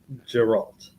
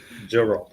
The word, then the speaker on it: Geralt: I think Ian this is the way we pronounce it, Geralt. Yeah. Okay, Geralt.